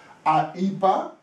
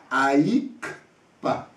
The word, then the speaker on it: Ahippah: Aïpa, qui s'écrit comme ça, A-H-I-P-P-A-H, c'est pas le vrai orthographe. C'est les Blancs, comme ils ne savent pas prononcer mon nom, ils ont transformé comme ça Aïpa. Mais vraiment, l'écriture, c'est A, I, K, P, A. Alors ici, je suis sûr que quand les gens prononcent, ils disent Aïkpa.